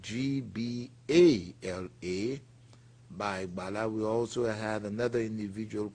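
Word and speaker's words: Gbala: We also have another Bai Bala, that's B-A-I, and the last name is spelled G-B-A-L-A, Bai Bala.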